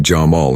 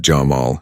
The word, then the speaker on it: Jamal: "She called me Jamal instead of Jamal," he said.